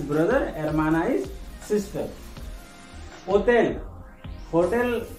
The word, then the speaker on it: hotel: Hotel and hotel have the same spelling, but the pronunciation is different. In Spanish, it's called hotel.